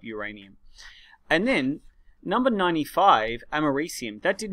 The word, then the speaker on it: americium: I used to pronounce it americanum. I can't think of how I used to pronounce it. I'm hoping that americium is the correct spelling.